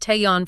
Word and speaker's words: Taeyeon: And that's pronounced Taeyeon for everyone. Right, Taeyeon.